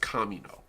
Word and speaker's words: Kamino: They maintain a trade hub and a political center in the core world of Kamino, quote, the world of crossed paths, name pronounced Camino. It's actually derived from Spanish.